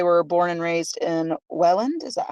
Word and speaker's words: Welland: asking, because they were born and raised in Welland. Is that how you say it? Welland?